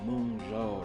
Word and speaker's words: Mengzhou: Moonjo. Mojo. That's how pronounced found hold of all places.